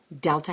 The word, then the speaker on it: Delta: pronounce the Greek alphabet Delta house there's no letter D in the Greek language it's a hard th like the house today you learn something